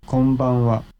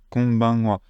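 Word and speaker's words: こんばんは: En fait, le deuxième, c'est pas vraiment en on, c'est plus en on. Alors, vous n'entendez pas forcément énormément la différence, je vais vous le refaire écouter par un natif. Konbanwa. Vous voyez, c'est pas konbanwa, c'est konbanwa, avec un on un petit peu, voilà, qui est vraiment dans le nez.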